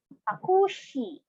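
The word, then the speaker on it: タクシー: Next, takushi. Takushi for taxi. Takushi. You have to pronounce the shi longer because of the prolonged symbol.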